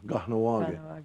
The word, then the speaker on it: Kahnawake: Oh, Kahnawake.